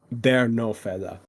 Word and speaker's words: TheRenoFella: then really mad sorry no the the right pronunciation is they no fella they no fella they no F clearly like